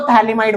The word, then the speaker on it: phthalimide: इसको थैलीमाइड बोलते हैं। थैलीमाइड का pH साइलेंट होता है। क्या होता है? pH। तो थैलीमाइड नहीं बोलते, क्या बोलते हैं? सिर्फ थैलीमाइड।